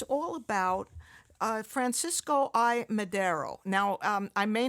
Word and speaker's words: Madero: So, your book um is all about uh Francisco I Madero. Now, um I may not be pronouncing that in the correct way. It's fine. It's fine. Madero, that you got it.